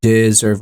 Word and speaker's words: deserve: Because if you say you deserve all you get, it wouldn't sound as good. Deserve in the word deserve is the accented syllable. Deserve, it's the second one.